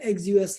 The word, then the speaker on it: Axios: So for the Node.js that you call the backend API, you have to use the Axios library.